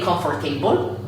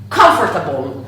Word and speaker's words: comfortable: my students is that the word table is not inside here. Non c'è dentro la parola tavolo. So we do not have to say comfortable, but the correct pronunciation is comfortable. So let's repeat it together, comfortable. Remember, the stress is on this syllable, whereas the syllable OR is not pronounced.